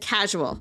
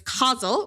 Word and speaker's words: causal: I accidentally said casual the first time I did this. So now we're know we know it's causal.